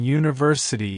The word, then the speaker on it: university: not a vowel sound since it starts with a y sound which is a consonant sound we need to use